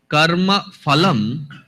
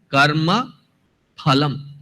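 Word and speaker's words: फलम्: in the power go the second syllable is not fun but it is the fur is a borrowed pronunciation from Farsi it is not in some scriptum though in many Indian languages it has become a habit to say for when you look at the actual pronunciation of it it is not for it is ha therefore here it is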